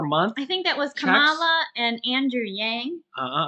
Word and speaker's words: Kamala: what you say right kamala kamala kamala laughs yeah kamala you put the emphasis on the wrong syllable no at least i